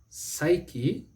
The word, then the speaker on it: psyche: and the word is psyche or psych spelled p-s-y c-h-e psyche psyche is if you use the word as a noun and psych is if you use it as a verb it's a verb it